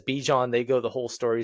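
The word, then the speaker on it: Bijan: But my guy Bejan Robinson, Bejon is his name apparently. Uh there was a whole stiff and stickler. I'm a big pronunciation guy and it really killed me when it was like oh no it's actually Bjon and I was just like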